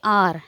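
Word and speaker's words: hour: है यहां पे देखो एन और आर इसको हम प्रोनाउंस करेंगे आर है ना यहां पर साइलेंट है एच जो है वो क्या है साइलेंट है इसको हम वोवेल की तरह ट्रीट करेंगे और 1 घंटे के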